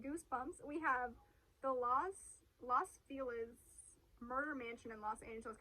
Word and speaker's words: Los Feliz: Oh, it's spelled F-E-L-I-Z. Well, It could be Feliz. Las Las- Vegas. Las- Feliz. Feliz?